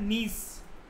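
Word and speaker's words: gneiss: That is in course of time granite जो है वो ट्रांसफॉर्म होकर बन जाता है नीस। इसको नीस कहते हैं, जी साइलेंट होता है।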